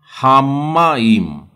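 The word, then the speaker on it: המים: इशरत्सु हामाइम, म का उच्चारण आधा म पूरा म लेना पड़ेगा। हामाइम।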